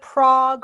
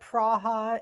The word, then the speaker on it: Prague: Here it's either Prague or Praha is the, more traditional way.